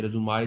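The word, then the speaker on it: résumé: Curriculum विटाए आमतौर पर आपने एक लफ्ज़ सुना होगा, रिज़्यूमाए, जिसको कुछ लोग मिस प्रोनाउंस करके रिज़्यूम पढ़ते हैं।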